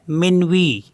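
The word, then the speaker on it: minuit: आई एन यू आई टी इसको पढ़ते हैं मनवी मनवी मींस होता है मिडनाइट नेक्स्ट है टीटीएच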